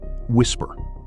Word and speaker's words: WSPR: Whisper, pronounced whisper.